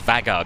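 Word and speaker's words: Vágar: I think, I've been saying Vagar, and I think it's Vagar because there's an accent over the A. And this Edinburgh controller sounds like an intelligent man, and that's how he pronounces it, so.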